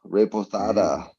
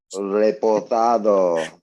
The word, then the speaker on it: Reposado: I'm drinking some Campo Azul Reposada. Oh, I love it when you roll your R's. Reposado.